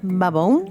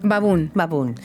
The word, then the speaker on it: Baboun: Tu apellido se pronuncia Baboun. Baboun.